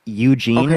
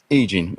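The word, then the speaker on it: E. Jean: that what you're saying it's not that you don't know how to pronounce her name it's that you thought her name was Eugene okay what's her name EEG egene okay was I that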